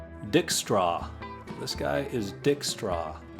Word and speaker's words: Dijkstra: This guy is Dijkstra. I'm going to say that's a silent J.